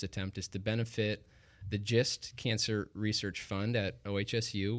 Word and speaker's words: GIST: Jake, when he was pronouncing it a couple podcasts ago, GIST. No, it's just like it sounds.